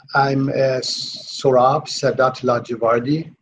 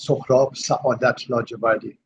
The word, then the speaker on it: Sohrab Saadat Ladjevardi: I'm Saurabh Sadat Lajavardi. In my original language, which is called Farsi, the pronunciation is Saurabh Sadat Lajavardi.